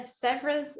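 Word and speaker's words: Sèvres: This, for all those French speakers, you can pronounce it much better than I can. It's Sevres, it's Sevres blue, a Williamsburg color.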